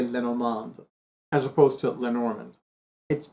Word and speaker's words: Lenormand: I've lost count of how many times I have conducted a reading where I have combined tarot with Lenormand, with playing cards, with Kipper, with an oracle card deck.